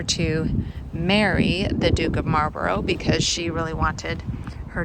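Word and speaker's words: Marlborough: forgive me for the fact that I was mispronouncing marbar on the day that I filmed this video here is the grave of Consuelo Vanderbilt who was the wife of the ninth Duke of Marboro of course she was the American ays who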